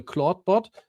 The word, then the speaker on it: Clawdbot: a long time because the claudebot I think it's pronounced like claude but written differently.